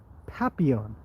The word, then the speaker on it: Papillon: Okay, let's Papillon. You don't pronounce the L?